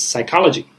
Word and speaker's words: psychology: We don't pronounce in English the P, although there is a P. And when there's a PS, we never pronounce the first letter. That's the rule. That's the common rule, the grammar rule in English. When there are two consonants at the beginning, we usually pronounce the second consonant sound.